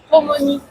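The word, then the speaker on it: ともに: Ça se prononce Tomoni en japonais et ça veut dire ensemble.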